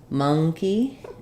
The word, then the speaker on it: monkey: monkey yeah um so we have have an NG sound first syllable stress but donkey has the